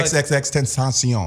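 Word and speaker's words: XXXTentacion: I found out actually how to actually pronounce his name from him himself. Triple X, No, XXX Tentacion.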